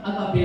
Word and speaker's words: agape: Kinahanglan kag duna na makabaton kag agape love. Hello. Bukan na sa niya kung isulong-sano ito pagbato ini. Now, the word agape, pronounce it agape.